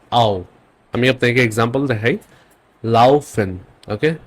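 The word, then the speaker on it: laufen: ওকে আরেকটা কম্বিনেশন দেখি আ আর উ মিলে উচ্চারণটা হবে আও এর মত আও আমি আপনাকে এক্সাম্পল দেখাই লাওফেন ওকে লাউফেন কাউফেন ফাউল লাফেন মিন্স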